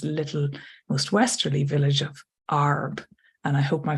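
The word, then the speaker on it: Għarb: most westerly Village of ARB and I hope my pronunciations are right I believe the GH is silent so the way I've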